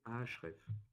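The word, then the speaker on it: Ahrefs: moi le deuxième outil qu'on va utiliser c'est ahref donc comme ça se prononce ah h r e f s euh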